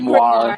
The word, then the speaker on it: grimoire: How do you pronounce that word? I said grimoire.